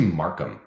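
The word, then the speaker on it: Marquam: there it is oops sorry I got your name wrong I'm sorry about that it's actually my name's actually Markham m-a-r-q-u-a-m so the C is just arbitrary like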